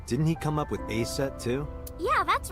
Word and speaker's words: Aset: he come up with aset too yeah that's right that name is rooted in Egyptian mythology too horse's mom is named Isis but in ancient Egyptian it's pronounced closer to is or aset H how do I